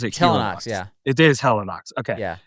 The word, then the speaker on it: Helinox: I have never figured out how to pronounce the company name. Helinox, or is it Helinox? Yeah. It is Helinox.